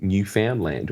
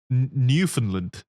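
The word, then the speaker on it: Newfoundland: pissed off at us for mispronouncing New Foundland. Oh, I triggered. New Finland. It doesn't make sense. Why do you pronounce it that way?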